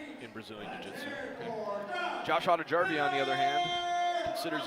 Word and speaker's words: Hautajarvi: Hang on, pronounce that again, the last name. Hautajarvi.